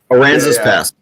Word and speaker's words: Aransas Pass: Aransas Pass. Aransas Pass. You got to say it like a Texan, Aransas.